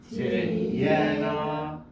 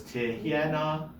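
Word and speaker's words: תִּהְיֶינָה: So it's tihyena. This yud here, the second yud, is silent.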